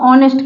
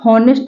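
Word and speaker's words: honest: पर H silent है इसको ऑनेस्ट कहते हैं यहां पर देखिए ये साइलेंट है इसको नेस्ट नहीं ऑनेस्ट कहेंगे ऑनेस्ट देखिए कैसे ऑनेस्ट नेस्ट इसको नेस्ट नहीं कहेंगे नेस्ट गलत है ऑनेस्ट सही है तो एच ओ एन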